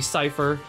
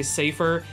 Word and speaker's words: cypher: character is gonna be cypher in a nutshell now I think it's pronounced cypher or some people say safer I say cypher but anyway so if